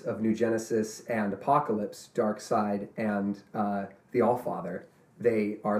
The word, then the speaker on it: Darkseid: Because it's Darkseid. Okay, I'll throw up on you if you pronounce it Darkseid. It's Darkseid.